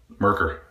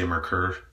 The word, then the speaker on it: Merkur: Razor of 2014 was Merkur 34C. Merkur. Depends on where you are, is how you say it. I say Mercur, so that's what you're gonna hear.